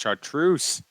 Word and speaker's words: chartreuse: nicest present i've ever received potentially oh it's pronounced chartreuse you fool i don't know shaku trunks big